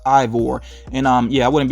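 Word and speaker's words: Eivor: main character i think that name is pronounced ivor and um yeah i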